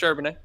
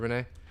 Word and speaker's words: Charbonnet: pronounced? Charbonnet. Yeah, you Zach got it. Charbonnet.